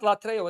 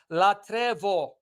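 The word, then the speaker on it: λατρεύω: Me, Orthodox Christos, that latreo, it's not latreo, it's latrevo.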